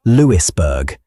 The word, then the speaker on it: Louisburg: Louisburg Square in Boston's Beacon Hill is named for the siege, pronounced Lewisburg if you want to annoy people at parties.